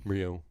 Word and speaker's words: Ryu: And the Jays are probably going to throw Hyunjin Ryu.